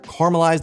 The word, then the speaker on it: caramelize: Rightfully so, I suppose, because we sort of just ignore the A in the middle of the word.